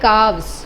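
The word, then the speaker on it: calves: काफ, wolf, I think Aditya you said काल्स, actually वो काल्स नहीं है, वो है काव्स, मतलब एल is silent over here.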